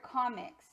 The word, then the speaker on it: comics: And if you hear the word comics, you'll hear that the M actually sounds like it's with the second syllable.